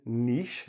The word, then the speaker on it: niche: So this pronunciation, niche, like E-E sound.